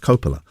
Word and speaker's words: Coppola: Although actually I think her name is pronounced Coppola. So I've been getting her name wrong this whole time.